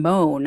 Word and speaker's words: Mohn: 32-year-old Pennsylvania resident Justin moan I think is how you pronounce it m or moan m o h n is how it's spelled um he has been